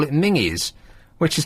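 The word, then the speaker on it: Menzies: I mean I know that that's how they pronounce it up there because there's a news agents called menes and they call it mingies which is not the nicest name for a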